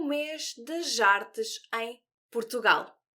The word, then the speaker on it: arte: Antes de começar, gostava que analisássemos juntos a palavra arte. A palavra arte vem do latim e é cognata de art, do inglês. Agora repara na pronúncia. Arte. Arte. Arte. E diz comigo arte.